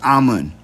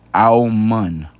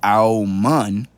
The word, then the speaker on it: Amun: Now, this is Amun, right? Now, Amun is how you pronounce it in English. But that's because they're changing the spelling of it, right? The correct way to say it is Aumun.